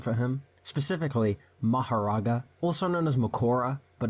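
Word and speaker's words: Mahoraga: Alright, so since Seth is pushing 50 and is losing his ability to speak properly, he asked me to pronounce a name for him, specifically Maharaga, also known as Makora, but no one calls him that.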